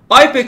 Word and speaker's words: IUPAC: IPEC dediğimiz şey, hani ben IPEC diye okuyorum. Bazı yerlerde UPAC diye de okunuyor. Hani ben de bazen UPAC dediğim de oluyor. Karıştırıyorum yani IPEC ile UPAC de hemen hemen aynı şeyler. Farklı farklı okuyanlar var.